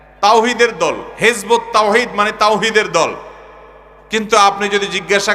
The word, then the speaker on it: তাওহীদ: হেজবুত তাওহীদ মানে তাওহীদের দল। কিন্তু আপনি যদি জিজ্ঞাসা করেন তাওহীদ শব্দটা শুদ্ধ উচ্চারণে একটু বলেন। আরবিতে তাওহীদ এ হা যথাস্থান থেকে উচ্চারণ সঠিকভাবে তাদের শতকরা কয়জন করতে পারবে?